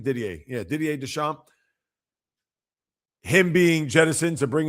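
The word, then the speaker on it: Didier Deschamps: Is that how you pronounce his name? Ddier. Yeah, Dier Desamp.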